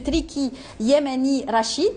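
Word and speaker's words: Triki Yamani Rachid: médecine vétérinaire, Monsieur Triki Yemeni Rachid. Bonjour. Bonjour. C'est la bonne prononciation.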